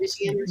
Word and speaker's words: Michiganders: Michigananders. How do you say it? Michiganders. Michiganders.